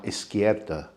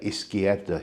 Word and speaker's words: izquierda: A Castilian Spanish speaker will pronounce the Z as a th, whereas here in the Canaries we pronounce it almost like an S.